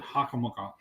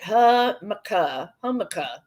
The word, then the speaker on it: jicama: Jicama. I thought that's what I said. No, you said hakamaka. Well, because she was showing me how to say it. Hummica. She says it's hummica.